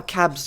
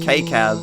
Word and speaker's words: Cab: CJ, you said, he's still calling him Cab in the chat, but that's how Cab's username is pronounced. It's not actually K-Cab. His name is pronounced Cab.